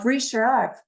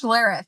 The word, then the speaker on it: Schlereth: But first, uh Brie Sheriff. Oh goodness, did I mess up your name? Can you help me pronounce that, Brie? It's Schlareth.